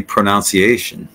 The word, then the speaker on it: pronunciation: guys say this word the incorrect way would be pronunciation and in that case it would be pronounced more like that pronunciation I think I've I've said that before I'm not sure but I think I have but that leads us to the correct way of saying it pronunciation pronunciation I mean so